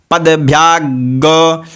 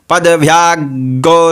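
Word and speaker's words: पद्भ्याम्: दस य जदव सया पद ब्याग देखिए यहां पे पद ब्या ठीक है प द भ और य और आकार है ठीक है तो उसका उच्चारण भी वैसे ही होगा पद ब्याग शूद्र पद ब्याग शूद्रो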